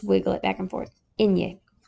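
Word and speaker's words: eñe: The way you would probably want to write this so you know how to pronounce it is Enye. Yay, you know, like you're excited. Yay, Enye.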